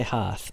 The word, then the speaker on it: hearth: would say half see i say hearth because it's like heart but he's saying it